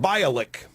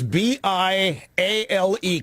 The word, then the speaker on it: Bialek: Gloria Allred says that her name is pronounced Bialek, as in Bialek. Bialek, it's B-I-A-L-E-K. I assumed it was Bialek. But Gloria Allred says her name is Bialek, as in Bialek.